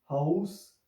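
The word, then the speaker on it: Haus: तो यहाँ पे भी आप देखें तो ए और यू का कॉम्बिनेशन आ रहा है, ए और यू का कॉम्बिनेशन आ रहा है। फिर इनको आउ करके प्रोनाउंस करेंगे, हाउस, आउटो।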